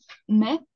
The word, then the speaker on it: méfient: Pero, o sea, lo vamos a escribir, sí, ENT, pero solo se pronuncia hasta ahí, ¿no? O sea, ENT no vamos a pronunciar como el caso de nourrice, aquí, por ejemplo, igual, nourrice, ENT a la fin, no pronunciamos.